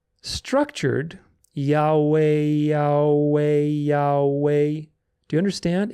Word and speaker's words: Yahweh: Therefore, the correct pronunciation is Yahweh. Yahweh. There's no ch, there's no guttural, it's all vowels, which is very, very important.